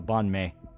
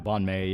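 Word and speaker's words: bánh mì: Yeah, it's pronounced May. So banh mi. Or May. Yeah, banh mi, yeah.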